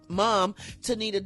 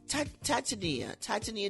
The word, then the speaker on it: Titania: According to Rolling Stone, Takeoff's mom, Tanisha Davenport, how do you say it? Titania Davenport, didn't want to get her name wrong, says the venue provided no screening methods after hours security control.